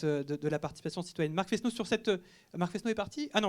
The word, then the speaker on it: Fesneau: Il y a quelque chose qui me ferait plaisir, c'est que vous disiez Fesneau, parce qu'on ne prononce pas les S en centre Val-de-Loire.